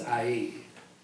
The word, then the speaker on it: Ai: I mean, I think I read AI most of the time, but I'm like, I know it's not AI. What? It's IE.